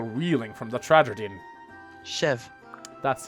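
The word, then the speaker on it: Cheve: Chev. That's how it's pronounced.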